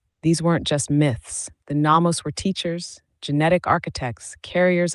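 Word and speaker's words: Nommos: Namos, pronounced no mos, ancient aquatic celestial beings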